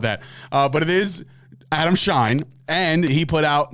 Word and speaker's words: Schein: Is it Shane? It's Adam Schein.